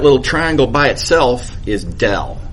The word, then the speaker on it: del: is just semantics but the way we pronounce this symbol is del please don't stay gradient gradient is what you get